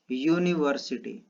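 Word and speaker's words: university: हमें क्या करना है, इसका प्रोनाउंसिएशन करना है। तो क्या आएगा, यूनिवर्सिटी। ठीक है, तो यहाँ पर जो फर्स्ट हमारा लेटर आ रहा है ये क्या आ रहा है, य आ रहा है, य क्या है, कॉन्सोनेंट है हमारा।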